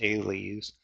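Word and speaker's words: -ales: It's in the Order Sapindales, all orders end in A-L-E-S and that's pronounced "aileys."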